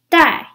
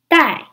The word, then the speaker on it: 带: verb is also pronounced die but you use a different trance character when you write it it means to take or to bring it is pronounced in the fourth tone die in Chinese you use